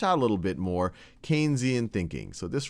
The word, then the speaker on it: Keynesian: maybe more one of that's more keian and some of what we've talked about or Keynesian I should say I already did my first mispronunciation one that's a little